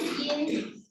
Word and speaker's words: yin: So, for example, in the idea of qi, there is when you have yin and you have yang. That's the pronunciation.